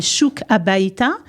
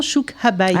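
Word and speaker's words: Shuk HaBayta: Ça s'appelle Chouk Habayta, Chouk à la maison, Chouk Habayta. Ah, ça s'écrit SHUKHABAYTA.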